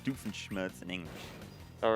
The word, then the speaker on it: Doofenshmirtz: might they call that in every language it's pronounced doofenshmirtz in english all right and the german pronunciation